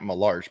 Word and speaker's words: LaMarche: His name is Matt Malarsh, but he spells it LaMarche.